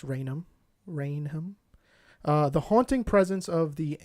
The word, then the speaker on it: Raynham: I believe it's pronounced Raynham.